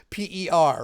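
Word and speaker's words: Dixper: Not like not not to be confused with like Dicks per second or anything like that, but just Dix Per, right?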